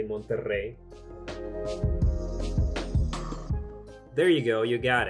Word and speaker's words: Monterrey: isn't your native language can you roll your r's and say Monterrey there you go you